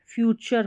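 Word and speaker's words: future: आवर फ्यूचर को यह फ्यूचर पढ़ेंगे। इसको टी यू आर ई को टर नहीं चर पढ़ा जाता है।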